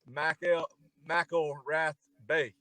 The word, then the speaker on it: McElrathbey: Ray Mcelrathbey.